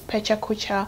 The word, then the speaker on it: pecha kucha: it's called pecha kucha pichaca pecha kucha i don't know how people pronounce it but my teacher said it is pecha kucha so is that it's